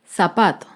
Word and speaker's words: zapato: tilde es la palabra zapato el zapato se acentúa en la penúltima sílaba pero no lleva tilde porque termina en vocal zapatos otro ejemplo de